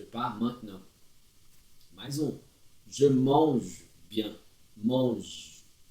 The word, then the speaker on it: mange: Je mange bien. Mange. Termina no G aqui, não pronuncia o E.